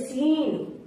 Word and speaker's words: scene: एस के बाद आया सी हमेशा साइलेंट होता है। जैसे एसेंट, ASCENT, एसेंट। जैसे डिसाइपल, DISCIPLE, डिसाइपल। जैसे मसल, MUSCLES, मसल्स। जैसे सीन, SCENE, सीन।